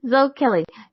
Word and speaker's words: Zoe Kelly: Tonight, my guest, I'm going to get this straight, is Zoe Kelly. Not Zoe. Even though you have an E, the E is silent, unlike Rick or Ick. It's not silent. Zoe Kelly.